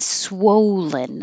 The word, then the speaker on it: swollen: And swollen. I didn't quite know how to represent woe, but swow. So your lips get very small, swow, and stay small until you make the L.